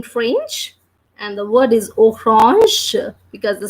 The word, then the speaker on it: orange: Then we have AN, and I have told you the sound of AN. It's a nasal sound, and we pronounce that as O. So that will be orange because the word ends with GE and the sound of G as we have done. It is pronounced as je. So the word will be like orange.